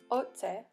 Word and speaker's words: otse: Otse, which means from, in English would more sound like oche, but in Cree it's otse.